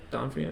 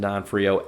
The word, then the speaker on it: D'Onofrio: How do you pronounce his last name? Vincent D'Onofrio, I think. D'Onofrio.